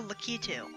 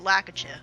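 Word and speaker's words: Lakitu: we just fought a lucky too apparently that's how it's pronounced my entire life i pronounce it lack a chip all right because i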